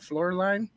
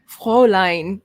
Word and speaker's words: Fräulein: How do you say that? Floorline? Fräulein.